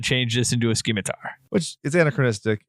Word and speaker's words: scimitar: How is that pronounced? Scimitar?